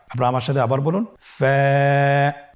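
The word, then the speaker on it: ف: ফা হরফটি উচ্চারণের ক্ষেত্রে বারিক হবে এবং এক আলিফ টেনে পড়তে হবে। আপনারা আমার সাথে আবার বলুন। ফা।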